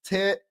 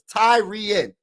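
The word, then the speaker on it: Tyrion: The Vikings Saturday added a versat versatility to versatility to the defensive front by selecting former Georgia defensive lineman Tarion pronounced Tyen. Okay, so it's Tyreen.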